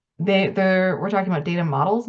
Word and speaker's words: OHDSI: ROBIN: So OMOP and OHDSI (pronounced "Odyssey"), we're talking about data models now and not just and not CDEs.